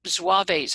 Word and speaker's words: Zouaves: So there were Hessian troops who were there, and there were Zouaves, I think that's how it's pronounced, Zouaves, Z-O-U-A-V-E, all in costume, and they all assembled where the Navy Yard was and where Pier 53 is now.